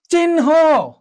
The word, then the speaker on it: চিহ্ন: এটি প্রত্যেকটি উদাহরণ যদি আমরা একটু খেয়াল করি, দেখো চিহ্ন, তাহলে নটা কি হচ্ছে, নটা আগে এসছে, তারপর হ গিয়েছে।